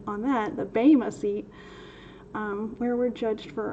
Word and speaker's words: Bema: But we're going to get into a little bit of the Bema seat. Thank you, Professor Nitpicky, for correcting our pronunciation on that. The Bema seat, where we're judged for our works in Mashiach or in the flesh.